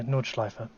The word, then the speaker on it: Nordschleife: the um um nordschleife am i pronouncing it correctly yeah yeah nordschleife okay because i felt like i was adding an r at the end for a little bit which it literally means north loop no oh oh this is